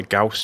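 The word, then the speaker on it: Gauss: people pronounce it a Gau chamber some people pronounce it a gaus chamber I guess yeah once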